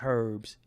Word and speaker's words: herbs: going to repackage these herbs, because some of them say herbs. So if you ever see somebody say herb, don't even buy shit from them, because the H is silent.